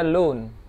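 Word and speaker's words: لون: Launun yang artinya warna dibaca lun.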